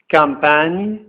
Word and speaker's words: campagne: de l'eau la combinaison cette combinaison a le son d'un n prolongé c'est-à-dire le G n'est pas prononcé et ça n fait